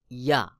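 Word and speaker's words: ي: জিহ্বার মধ্যখান তার বরাবর উপরে তালুর সঙ্গে লাগাইয়া ইয়া ইয়া।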